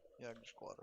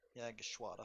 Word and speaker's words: Jagdgeschwader: Major Heinrich Erler, the commander of Jagdgeschwader 5, that was not how you pronounce it. We're gonna try again. Yagshwata 5.